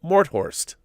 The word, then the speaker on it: Morthorst: and he writes in pretend there is a space between mort and horst to pronounce my name correctly so it's kevin mort horst and he is from